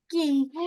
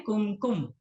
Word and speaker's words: कुमकुम: आशा नानी, मेरे पास किंकू है, थोड़े से पानी में घुला हुआ, मैं उससे बना लूं किंकू से। चलेगा, बिल्कुल चलेगा, बिल्कुल चलेगा। कुमकुम, इसका सही प्रोनाउंसिएशन है कुमकुम, ओके।